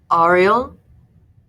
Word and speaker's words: Ariel: Ariel? My name is smooth between his lips. The proper pronunciation with the hard AR, not like the Little Mermaid.